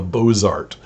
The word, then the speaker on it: Bozart: story about the south called sahara of the bozart it's about b-o-z-a-r-t uh presumably the southern pronunciation of the word bozar and um he